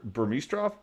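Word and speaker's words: Burmistrov: Mike Del Zotto two guys that I'm gonna butcher their names Thomas Vanek allies Pettis okay so Alexander Burmese trough am I saying that correctly no you said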